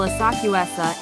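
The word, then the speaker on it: 浅草: Senso is the Chinese pronunciation, while Asakusa is the Japanese.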